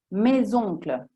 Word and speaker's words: mes oncles: Oppure i miei zii, mes oncles, oppure gli alunni, les élèves, ok?